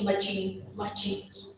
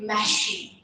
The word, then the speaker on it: machine: Yeah, some people say machin, or I don't know, but it is actually machine.